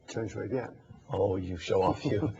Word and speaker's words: Chen Shui-bian: And then they become democratic with the election of President Chen, how's that pronounced? Chen Shui-bian.